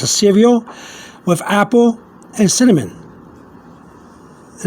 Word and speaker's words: cereal: And you see cereal, and I've written here cereal, which is pronounced cereal in Spanish.